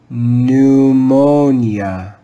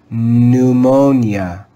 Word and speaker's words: pneumonia: with a silent p pneumonia pneumonia pneumonia notice that the p at the beginning of the word is silent pneumonia here is another common